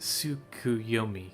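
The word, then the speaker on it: Tsukuyomi: to have to take a seat it is pronounced suku yomi correct a figure from Far Eastern mythology no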